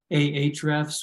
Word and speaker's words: Ahrefs: But there's sites like Ahrefs, which is spelled the letter A, Hrefs.